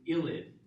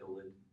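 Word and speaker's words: ylide: it with a reagent called an illid, that's y l i d e. Although I think some places leave off the E. They just call it illid.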